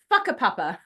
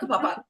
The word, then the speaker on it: Whakapapa: we're just like, oh, like Whakapapa. That is a real place, and that is not said right. Whakapapa.